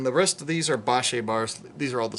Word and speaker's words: Bache: And I pronounce it Bache. There's people that pronounce it Bach and all these other pronunciations, and who knows who's correct. I guess we have to ask the people. And even if your name, even if that's your last name, Bache or Bach, it could be pronounced differently.